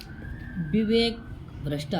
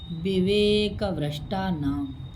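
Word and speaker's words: विवेकभ्रष्टानां: note करेंगे सति सक्ति विवेक भ्रष्टा नाम गलती से उच्चारण करते हैं तो बोल देते हैं विवेका भ्रष्टा गलत हो जाता है भैया विवेक भ्रष्टा नाम शुद्ध पद लिखवा के देख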